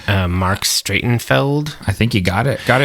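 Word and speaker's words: Marc Streitenfeld: Mark Stratenfeld.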